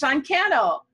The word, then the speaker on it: Cannell: I said it wrong again, Cannell.